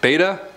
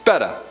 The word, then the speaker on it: betta: i can't say fish what the beta no it's tuttis it's betta if it's beta you